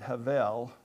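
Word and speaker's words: הבל: In Texas, we would probably pronounce it Havel, it's with a V in it, but that's how it's properly pronounced.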